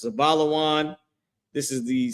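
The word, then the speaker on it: זבולון: In Hebrew, their name is pronounced Zabalawan.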